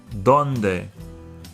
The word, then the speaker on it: donde: Donde. The D's are dental, so it's pronounced with the tongue behind the front two top teeth.